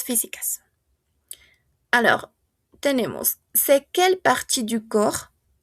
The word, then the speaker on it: corps: en su singular y no vamos a pronunciar la ps corps corps les parties du corps